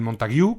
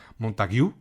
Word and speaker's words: Montague: Dije Montag, como si fuera apellido francófono. Creo que se pronuncia Montague, si no me equivoco.